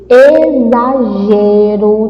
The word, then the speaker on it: exagero: O primeiro eu falei com o X com o som de CS, agora eu vou falar com o som de Z. Exagero. Então, quando você lê exagero, você está pronunciando Z.